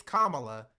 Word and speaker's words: Kamala: for Kam is like say my name correctly it's Kamala and that's kind of